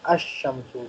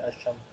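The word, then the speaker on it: الشمسُ: So in Haruf al Qamri we pronounce Lam, but in Haruf al Shamsi we don't pronounce Lam. Okay? So Kamarun will become Al Kamaru. Shamsun will become Ash Shamsu. Lam is silent in Ash Shamsu.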